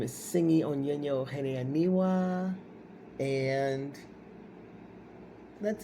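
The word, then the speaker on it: Tsingy: My name is Singi Onyenyo Ohene Aniwa, and that's it. Singi is spelled T-S like me, I-N-G-Y.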